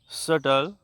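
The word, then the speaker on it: subtle: T doubt इसे पढ़ेंगे एस यू बी आई बी टी आई एल सटल चलिए देखते हैं बी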